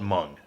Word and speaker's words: Meng: I want to say I refuse to call it mung I don't care if that's how it's pronounced it sounds stupid it sounds you know like no no it's mang at least you know for me sorry sorry that's that's what it is anyway recently over the